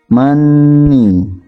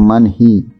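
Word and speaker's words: 많이: Ketika hiya diikuti vokal, maka hiya tidak berbunyi. Contoh, mani bukan manhi, ya.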